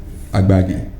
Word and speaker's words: Agbaghe: I'll give you two ways we pronounce the name. We have the Fone way. Okay. Which is what we use in our house. Agbagi.